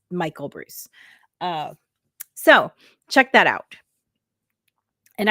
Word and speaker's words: Breus: There is a gentleman, Dr. Bruce, and I believe it's spelled Breuss.